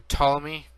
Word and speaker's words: Ptolemy: It's when Alexander the Great conquered a bunch of territory, he gave Egypt to Ptolemy, and Ptolemy had a bunch of ancestors, and this is their legacy.